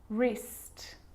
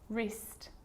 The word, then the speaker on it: wrist: The letter W is silent when it's at the start of a word before the letter R, like wrong and wrist, wrist, and right or wrote.